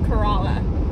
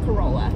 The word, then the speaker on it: Corolla: Also, it's Corolla, not Corolla. Just because I just needed to set that record straight. If you're visiting the Outer Banks, it is Corolla.